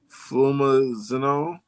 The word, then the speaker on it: flumazenil: long as they avoid flumazenol, flumazenol. Um, Kate, can you pronounce this for me? It's FLUMAZENIL.